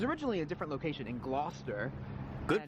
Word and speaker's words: Gloucester: It was originally a different location in Gloucester. Good pronunciation, you got it.